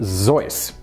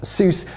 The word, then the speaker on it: Seuss: The proper pronunciation of Seuss is actually Zeus. This is because it's originally a Bavarian name. However, given the fact that most Americans incorrectly pronounce it as Seuss, Theodore Geisel ultimately gave